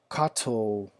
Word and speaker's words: Kato: that I may control my Kato or Kato, depending on how you say it in the world, switches so that I can operate those switches with my ECoS.